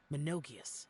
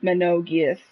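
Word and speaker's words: Menogias: him as a lattice monogas and others all right these are the names of the five yaksas oh it's pronounced menogeous okay so i pronounced it wrong oops sorry minogues i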